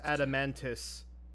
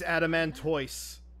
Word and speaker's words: Adamantoise: closely on individual details I refuse to accept that it's an pronounced adamantis and what bigger picture is there it's adamantoise the kingdom of wud